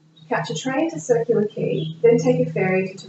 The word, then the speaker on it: quay: no funny words yeah key that's a tricky one because it's spelled q-u-a-y quay but we say a key like house key what is a key